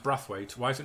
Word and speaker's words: Braithwaite: on the bench heed spelt Braithwaite but it's pronounced breath wait apparently don't wife's pretty expelled Braithwaite but pronounced breath wait why is it not